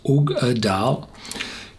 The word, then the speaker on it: Uigeadail: Artbeck ugadal pronounced ugal takes its name from the brooding mysterious lock which provides the pet laden water for artek.